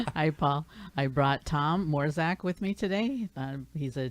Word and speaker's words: Mrozek: But it's Mrozek. Mrozek. Okay, I did pronounce it wrong, and I've been practicing.